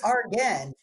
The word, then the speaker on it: Argen: I think she was the one that pronounced it funny, and then somebody said it. No, it's Argen.